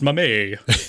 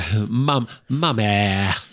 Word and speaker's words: Mamet: you'll find it's pronounced Mamé. Yeah, Mamet. I'm going to pronounce it Mamet just because it rhymes with damn it, and that's enough for me.